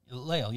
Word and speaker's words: Lael: Because it was, how do you say his name, Lael? Lael, yeah.